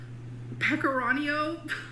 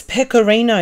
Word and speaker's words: pecorino: But it's spaghetti pasta in a rich creamy sauce with pecorino. That is so wrong. It's pecorino, you ignorant heifer.